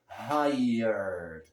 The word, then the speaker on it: hired: Isso vai acontecer com outras palavras de grafia similar, como hired, H-I-R-E-D, né? Hired, tired, e assim vai, tem muitas palavras assim, tá? E todas elas são pronunciadas da mesma maneira, como se fosse I-E-R e não I-R-E, tá?